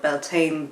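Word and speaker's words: Bealtaine: the month of May in Irish is called Bala and that's where the whole sometimes people call it belan the the Celtic Festival comes from so the the CTIC GIC pronunciation is Bela and it is uh such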